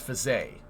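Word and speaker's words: Faget: the name of Max fisay right Max fisay is his name but his last name is spelled f-a-g-e-t he was uh I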